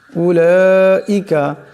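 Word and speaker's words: أُولَٰئِكَ: উলাইকা এখানে লামের উপর মদ আছে, এটাকে লম্বা করিয়া পড়তে হবে।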